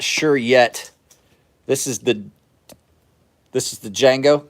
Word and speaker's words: Django: This is the Django. Just remember the D is silent.